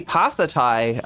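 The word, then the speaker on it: ภาษาไทย: No, Thai Pasatai.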